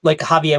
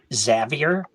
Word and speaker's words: Xavier: No, like Javier with an X. Gotcha. Like guards call me Xavier, like that kind of thing, but that's not actually how you pronounce my name.